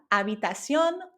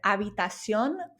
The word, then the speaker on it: habitación: And remember, this is spelled with an H, but we don't pronounce the H in Spanish. So it becomes la habitación or el cuarto.